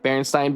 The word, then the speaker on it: Berenstain: Yeah, Berenstain Bears. Yes, I know. Pronounced Stain, but spelled Stein.